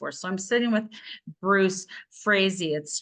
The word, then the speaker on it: Frazey: My name's Bruce Frazey. As stated, it rhymes with crazy, but I'm crazy to see something happen.